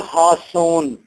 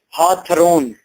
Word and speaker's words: Hawthorne: This story is written by Nathaniel Hawthorne. Don't pronounce it Hawthorne.